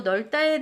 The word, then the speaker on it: 넓다: 넓다는 넓다로 발음해야 됩니다.